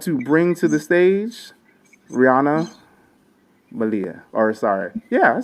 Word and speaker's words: Riana Malia: With that, I want to bring to the stage Rihanna Malia.